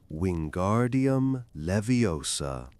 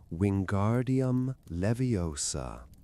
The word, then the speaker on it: Wingardium Leviosa: And don't forget the pronunciation when guardium leviosa accent on gar and o before each student lay a feather.